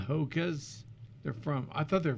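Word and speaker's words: Hoka: zealand or something wow like the haka that's how it's pronounced yes like the hakka dance oh you know like byu does for a game okay so i love these hakka shoes they're cushiony next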